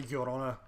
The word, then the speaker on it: Llorona: It's a double L in Spanish, so I'm guessing it's a Llorona. It's a Y.